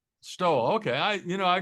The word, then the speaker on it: Stowell: How do you pronounce it, John? That is correct. Just like a mink but a different spelling. Stole. That's it. Stole.